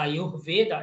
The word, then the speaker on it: Ayurveda: Como é que é a pronúncia? Ayurveda.